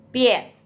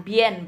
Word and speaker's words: bian: Selalu dengan 3 grup ini, 3 huruf dalam satu grup ini, IAN, harus dilafalkan seperti IEN ya. Pien. Ingat, B menjadi P. Bukan bien bacanya ya, tapi pien. IAN jadi IEN bacanya.